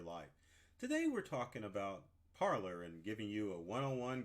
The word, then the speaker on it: Parler: So first things first, how do you pronounce it? Is it Parler? Is it Parler? It's officially started out as Parler, but as people didn't recognize that parlor is a French word for parlay, they begin to start